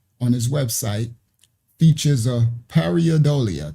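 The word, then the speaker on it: pareidolia: Now, it says this Henry Martinez, his header, which y'all just saw on his website, features a parodolia. That's what it's called. Paridolia, I think that's how they say it.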